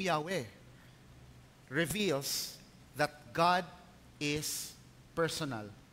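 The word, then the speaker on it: Yahweh: yung translation po sa English na Jehova kalaunan napag-alaman po ng mga ah history at linguistic experts na ang pinaka closest Base po sa kanilang tradisyon kung paanong inilalagay ang mga vowels ay yung pronunciation na yahwe At least meron tayong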